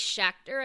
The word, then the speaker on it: Schachter: We also had Felice, I'm going to say it wrong, it's Felice Schachter, I believe is how you would say her last name, and I found out recently, she played Nancy, who basically, let's just call her Roger's girlfriend.